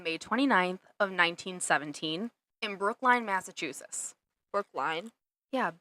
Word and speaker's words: Brookline: l i n e isn't it Brook no it's not l y n Brooklyn I think it's Brookline massachusett it's spelled line Brooklyn's in New York